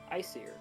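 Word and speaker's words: Icir: But perhaps if you visit the region of Isir, you could find out more about it. Isir is spelled I-C-I-R. Icier.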